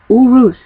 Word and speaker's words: Uruz: being said here's your first run it's called Urus and it's u r u z I will uh spell it out for you um right here in